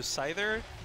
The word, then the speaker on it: Seither: it's like the word either like either/or with an S in front of it so cider kind of sounds like a Pokemon - what we can do is see there no no there's SolarCity pronounces it like the Pokemon so now I can't